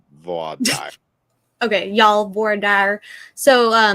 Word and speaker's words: voir dire: So in Texas, we pronounce it voir dire. Voir dire. And then that's fine. Other parts of the country, they put more French into it. Voir dire. Voir dire and voir dire.